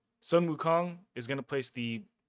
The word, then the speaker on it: Sun Wukong: that I've been farming Odin on, I put Sun Wukong, is how you pronounce it proper. Sun Wukong, because he's built very weakly, and because he's immortal, he comes back.